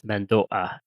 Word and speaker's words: Mando'a: If you're saying it clearly and being precise in your speech, you would pronounce it as mandoa with the little catch in the throat before the a.